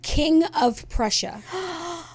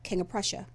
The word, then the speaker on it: King of Prussia: They said King of Prussia. That is not how you say it. Yes, it is 3 distinct words, King of Prussia. But how we say it is King of Prussia. Yeah, King of Prussia. It's King of Prussia.